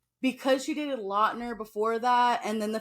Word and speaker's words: Lautner: Actually, Taylor Lautner.